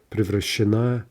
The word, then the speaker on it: превращена: Now, the shifting stress, превращена, превращено, превращены.